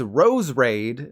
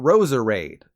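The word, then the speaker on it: Roserade: I've been saying and this thing's Rose raid not Rosa raid sticking with grass types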